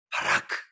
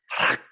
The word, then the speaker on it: 바라크: 교수님한테 책망을 들었는데 발음이 제가 좋지 않거든요. 바라크 이렇게 그렇게 안 한다는 거예요. 바라크 이렇게 바라크 이렇게 하라는 거예요.